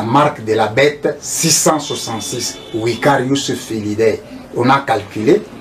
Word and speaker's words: Vicarius: Je prononce Vicarius Filii Dei. Vicarius, pourquoi? Puisqu'en latin le V est prononcé par ou. C'est pour cela que je prononce Vicarius Filii Dei.